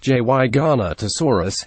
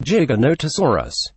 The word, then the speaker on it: Giganotosaurus: paleontology convention and worse he pronounces it jy garnet asuras when it is in fact pronounced Giganotosaurus for shame the explanation